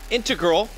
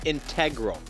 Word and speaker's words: integral: That is not integral. That is integral.